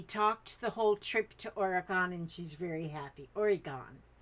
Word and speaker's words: Oregon: she's very happy origon I've always said Oregon I don't know why instead of oron and I thought Oran Oran and somebody told me it's Oregan well I why didn't they spell that that why is there o at the end hits me all confused like why